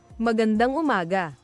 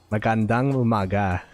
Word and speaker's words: Magandang umaga: Magandang umaga. Magandang umaga.